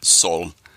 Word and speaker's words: Zol: The pronunciation is kind of open-ended, and that was partially intended. In my mind, it would be pronounced Sol, more like the Spanish, and so then representing the sun, of course, but also a play on soul, S-O-U-L. And then your trilogy ends with Da Snowbiz.